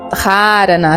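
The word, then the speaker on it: धारणा: É uma técnica que a gente chama de dharana, ou se a gente fosse utilizar uma pronúncia mais próxima, né, do sânscrito, seria dharana, né? Tipo, esse H tem um som aí.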